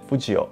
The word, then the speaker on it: 不二雄: 藤本弘的藤读作富吉，安孙子素雄的雄则读作欧，合在一起就是富吉欧，汉字可以写成不二雄。